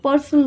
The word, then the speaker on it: personnel: Next is पर्सोनेल aspect. This is नॉट पर्सनल।